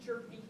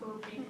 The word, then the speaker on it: Jerpy: Let's stay on the record, it's Henry Jerpy, not Herpy.